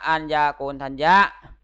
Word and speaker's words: อัญญาโกณฑัญญะ: มี พระ ภาค เจ้า อัญ ญา โกณ ทัญ โย อ่าน ว่า พระ อัญญาโกณฑัญญะ ประเทศ ตะวัน ขึ้น เอา